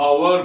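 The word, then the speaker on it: hour: ए यहां पे अनेक उदाहरण ये है अपवाद जैसा, जहां पर उच्चारण में हम एच का उच्चारण नहीं करते, हम अवर बोलते हैं, अवर बोलते हैं तो क्या लगेगा, एन।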